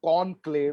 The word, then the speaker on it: Conqlave: So we pronounced it as conclave, and we spelled it as CONQLAVE.